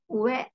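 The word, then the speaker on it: 上: Dibacanya ue ya.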